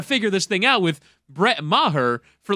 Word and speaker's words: Maher: the kicker I thought I want to always pronounce it like Bill Maher but it's Brett Maher Jesus get that wrong